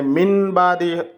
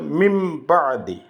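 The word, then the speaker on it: مِنْ بَعْدِ: এখানে মিন বাদি হবে না, এখানে হবে মিম বাদি। নুন আর বা মিলিয়ে মিমের মতো করে উচ্চারণ করতে হবে, এটাকেই বদল করা বলে।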